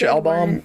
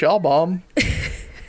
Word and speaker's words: Albom: cake isn't that Mitch Albom it is it's album right its album album is how you pronounce his name I know that for